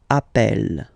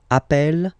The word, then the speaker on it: appelle: they are the same, then it does change the pronunciation of e. You tend to pronounce it like really open. That's the reason why you pronounce it appel. Okay, appel, and appel.